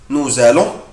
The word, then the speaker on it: nous allons: أخلي بالي هنا بنطق حرف الاس زد فنو بقولها nous allons.